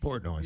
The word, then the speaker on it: Portnoy: Portnoy.